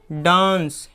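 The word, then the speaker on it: dance: जब किसी वर्ड के अंत में ई आता हो तो ई साइलेंट यानी चुप रहता है। क्या रहता है? ई साइलेंट रहता है। जैसे देखिए डांस, तो ई का आवाज़ कुछ नहीं हुआ, यहाँ पे कुछ नहीं हुआ।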